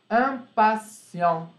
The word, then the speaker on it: impatient: Impatient. Não pronunciem o T.